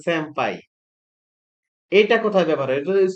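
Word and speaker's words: 先輩: এটা উচ্চারণ কিন্তু সেনপাই না, উচ্চারণ হচ্ছে স্যাম্পাই।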